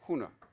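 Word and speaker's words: हुनु: But Hindi uses the infinitive hona. When Nepali is pronounced huna.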